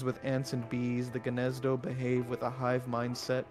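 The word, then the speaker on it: Gnezdo: Oh It's It's pronounced Ganzdo.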